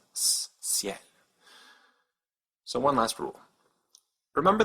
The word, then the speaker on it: ciel: And so this word is pronounced ciel with a soft C, ciel.